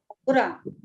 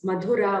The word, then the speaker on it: Madhura: No, It is not Mathura, it is Mathura. No, this thing is Madhura only.